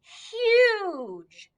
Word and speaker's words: huge: this word with me huge and remember the g usually says gu but since there's an e right after it makes that soft g sound like we learned last week oh my gosh so